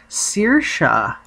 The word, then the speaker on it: Saoirse: name and she said it's an Irish name pronounced Saoirse okay and that's how you spell it it